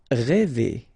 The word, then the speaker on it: rêver: Rêver, okay, accent circonflexe, so this accent on the top of okay, will produce the sound really open one, okay, so rêver.